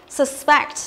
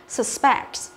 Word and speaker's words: suspect: Suspect, như cô đã nói, khi là động từ thì trọng âm của nó dâm âm thứ hai, suspect. Thế còn khi là danh từ á, thì trọng âm của nó dâm âm thứ nhất, đọc là suspect.